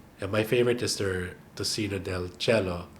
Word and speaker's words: tocino del cielo: Yeah, my favorite is their tocino del cielo, or as the Spanish pronounce it, tocino del cielo.